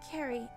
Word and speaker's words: Carrie: It's pronounced Carrie, like a K.